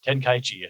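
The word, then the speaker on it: Tenkaichi: ten kai chi because it's ten kaichi. Um yeah, ten kai chi because there's the two energies in there.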